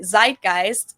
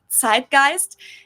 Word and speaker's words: Zeitgeist: Americans usually say Zeitgeist. In German, we pronounce it Zeitgeist, and this consists of the word Zeit, which means time, and Geist, which means spirit.